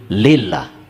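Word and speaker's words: لله: Kalau alifnya dibuang tinggal lam lam ha dibacanya jadi lillah lillah.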